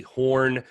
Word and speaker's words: Horne: Yeah, you can find me and links to everything basically just through @This Is Horne. That's Horne with an E. The E is silent until midnight.